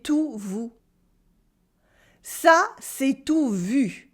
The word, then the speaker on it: vu: When you pronounce U, it's the same, except your tongue is much more in the front.